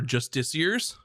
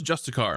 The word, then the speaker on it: justiciar: I thought the word was justicar my entire life, and I thought I lived a lie and I've been pronouncing something wrong my entire life, and that I just now learned in my 30s that it's justiciar.